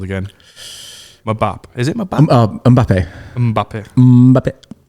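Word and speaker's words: Mbappé: Do you pronounce it like Mbappe? I think is it like that song like Mbappe, Mbappe, Mbappe, Mbappe? Oh yeah, it's Mbappe.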